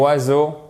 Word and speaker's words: oiseaux: trottoir et au passage le mot oiseaux c'est un casse tête c'est un mot en français dont aucune lettre est prononcée par le son correspondant à chaque fois sa chance dans la prononciation ensemble vous rendez pas compte vous savez le prononcer et en plus évidemment le x ne se prononcent pas donc vous voyez il